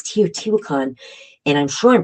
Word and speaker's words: Teotihuacan: There's one of the places, I want to say it's Teotihuacan, and I'm sure I'm pronouncing that one correctly.